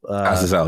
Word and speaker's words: Azazel: to try to bring out, I'm going to butcher the name, like Azazel. Azazel, yes, you got it.